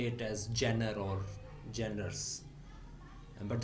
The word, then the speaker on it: genre: But obviously, because this is written in English, so you can say it as genre or genres. But the correct pronunciation would be genre.